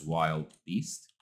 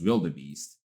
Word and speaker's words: wildebeest: Also, wildebeest, almost every student pronounces it as wild beast.